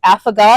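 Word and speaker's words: affogato: I think it's avagata.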